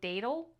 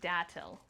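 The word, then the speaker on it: Datil: Last year I called them daddle, but apparently you pronounce them dattel.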